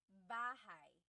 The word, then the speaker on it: bahay: You might notice that the spelling is A-Y at the end, so it looks like bahay, but it's pronounced bahay. That A-Y combination is bahay.